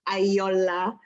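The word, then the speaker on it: Ayoola: Ayola. But, is that Ayola? Yeah, it's more of like a, it's Ayola, if you want Ayola, to say, sorry.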